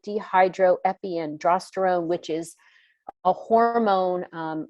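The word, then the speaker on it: dehydroepiandrosterone: want to make sure i say it right dehydro epi androsterone which is a hormone like a precursor that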